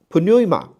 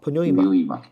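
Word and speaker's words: πνεῦμα: 的时候，这是 p 哈，这是个 p，这个 n 对吧？但是在英文里面这个 p 是不发音的。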